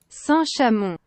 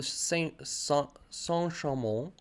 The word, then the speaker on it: Saint-Chamond: It's a bit hard to pronounce, but we're gonna stick to what Google is telling me. Saint-Chamond. All right, Saint-Chamond. Saint-Chamond. Yeah, they always swallow letters.